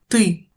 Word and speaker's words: ты: L'un des sons les plus difficiles à prononcer pour les étrangers est U. comme dans ты, tu ou вымыть, laver. La distinction entre les deux sons suivants est aussi souvent un problème.